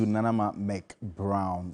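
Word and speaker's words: Nana Ama McBrown: Congratulations to Nanama McBrown. That's how she pronounces it.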